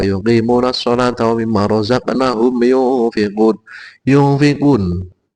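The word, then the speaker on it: يُنْفِقُونَ: Hudal lil muttaqin alladzina yu'minuna bil ghaibi wa yuqimuna sholata wa mimma razaqnahum yunfiqun. Ini ikhfa, membacanya pakai ng.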